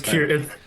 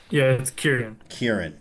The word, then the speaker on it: Kieran: It's Kieran. Kieran.